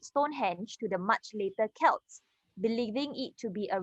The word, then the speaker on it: Celts: Pronounce it with a K. Celts.